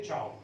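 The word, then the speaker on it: ciao: तो प्रचलन की भाषा में या पॉपुलैरिटी में, इन द वे of popularity that we से चाओ, ओके। सो Yes, sir. ऐसा जिसके अंदर कोई there is no pronunciation rule, but even if यू are speaking it एज सियाओ तो that is also okay, you कैन से and that person in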